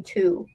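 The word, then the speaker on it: Thu: my name would be two so my literal name would have been two wait like like tw no like that's how you pronounce it but it would be spelled t-h-u but my would would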